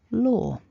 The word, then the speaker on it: law: But just for a standard version, what we're aiming for is law. Okay, so you know what to avoid now. Don't change the vowel. Don't say a W if you're going for a standard pronunciation.